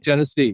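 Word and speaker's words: Genesee: Is it Jennese? Am I pronouncing that right? Jennese. Yep. Jennese County.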